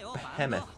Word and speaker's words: Behemoth: And you said Behemoth a few weeks ago. So you can't even get English right. Behemoth is the best. No, it's Behemoth. Behemoth.